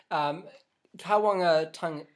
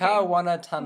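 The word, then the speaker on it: kāwanatanga: they used the word kawangatanga. You can't pronounce Māori for shit. No, I can't. I didn't say shit, by the way. Where am I looking? Kawanatanga. Where am I looking? Tanga. Right here. Kawanatanga.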